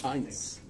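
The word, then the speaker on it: Heintz: That's just like the ketchup, but with the T before this. Heinz.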